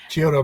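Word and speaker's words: Chiodo: But this is strictly a pardon of me I'm trying to pronounce this right. Uh Chiodu Chiodto uh the brothers. Chiodto brothers.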